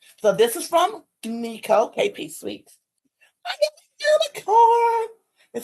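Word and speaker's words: Neco: Nico and it's N E C O. It is not pronounced Nicole.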